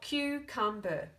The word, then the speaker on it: cucumber: break that word down we can see ah in this syllable it ends the syllable makes this long sound c u this syllable it's kept in by a consonant following this CBC pattern so it's closed it says it's short sound and that says b